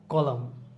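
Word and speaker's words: column: ওয়ার্ডের শেষে এম এবং এন থাকলে এনটাকে সাইলেন্ট রাখতে হবে। যেমন অথাম, আমরা কিন্তু অথামন এরকম বলি না, আমরা অথাম বলি। কলাম কলাম কনদেম বলতে কি বোঝায়?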